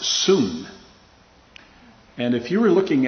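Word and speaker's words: σύν: is which is uh spelled in the english s-u-n but it is pronounced soon and if you were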